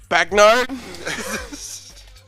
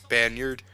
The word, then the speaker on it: Bagnard: Bagnard? How do you pronounce it, bro? Banyard.